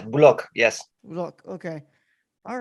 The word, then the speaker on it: Boulocq: course of course uh i hope i pronounced your last name correctly is that is that how you say it yes block yes look okay all